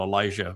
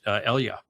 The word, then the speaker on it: Elijah: And, I just watched a long video on what they call Elijah, but Elia.